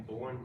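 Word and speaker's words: Boerne: In Bourne, Texas. Bernie, Texas, I guess you pronounce it. B-O-E-R-N-E.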